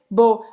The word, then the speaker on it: beau: Porque o E-A-U em francês tem um som de O, que em português seria como um O com acento circunflexo.